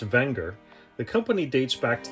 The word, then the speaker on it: Wenger: Technically pronounced Wenger, the company dates back to the late 1800s.